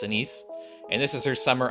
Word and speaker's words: Anis: Some people are call her Anis, or some other forms of that name because they can't pronounce it right, but it's Anise.